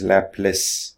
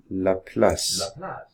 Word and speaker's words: Laplace: in India for example in India they called they dip they pronounce this word as lapis lapis but as we heard here it splits it seems that that the world is actually Laplace Laplace so anyway Fila plus